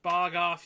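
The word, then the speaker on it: BOGOF: uh s sorry uh bog off buy one get one free pronounced bog off you get I see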